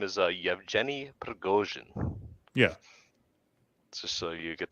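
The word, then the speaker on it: Yevgeny Prigozhin: his uh his name is uh you have Jenny pregosian yeah just so you get the pronunciation correct but um yeah I got the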